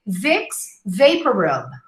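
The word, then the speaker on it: Vicks VapoRub: it to them but the correct form is to say vixx vaporub okay vixx vaporub anyway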